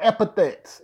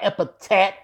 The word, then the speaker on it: epithets: how to say the word epithets is epithets not a Patek this asshat yeah well